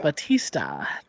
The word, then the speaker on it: Bautista: Then we have how do you pronounce his last name? Dave Bautista. Batista? Yeah. Batista.